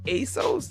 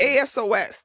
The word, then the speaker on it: ASOS: That ASOS. Is that how you say it? Yeah. I don't know what that is. ASOS.